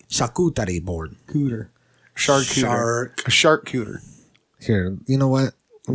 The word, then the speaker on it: charcuterie: The pronunciation, the true pronunciation, charcuterie. Yeah. Charcuterie. Charcuterie board. Charcuterie board? Charcuterie board. No. It's a charcuterie board. Charcuterie. Shaw. There's no R. Charcuterie. There's a R, but it's silent.